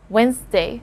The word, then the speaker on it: Wednesday: this word here because commonly english learners do not know that the letter d here is a silent letter d so yeah there you go it's wednesday and one more thing we shorten this word into just two syllables so it's just once and then day wednesday wednesday wednesday it's not wednesday i always take time